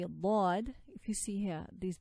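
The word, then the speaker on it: ض: So anyway, so this is Dad, articulated by one or both sides of the tongue together. So you could use one side or both sides of the tongue together. And what lies opposite to it, of its internal surface of the upper molars. So where are the upper molars? Here are the upper molars here.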